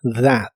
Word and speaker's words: that: Primero la palabra that, que significa eso o aquello. La TH de esta palabra se pronuncia como una D vibrante.